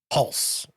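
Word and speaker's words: Hulce: Hulse. Tom Hulse, who played Wolfgang Amadeus Mozart.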